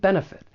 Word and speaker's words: benefit: want to talk about the first is that final TN benefit I am going to pronounce this as a flap T because I'm from the United States and this is very common with the American accent when the t comes between two vowel sounds often I am going to